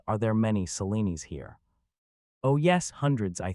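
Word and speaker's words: Selene: Half the Selenis I know are called Silly and the other half Lena. Which are you? Neither I am Seleni, all three syllables. Salani, she said, coming down heavily on the first syllable.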